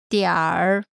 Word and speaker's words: 点: 点 Note, in North China, people tend to put an ER sound after the final syllable of many words. So in a northern accent, 点 would be pronounced as 点儿 Last is com, usually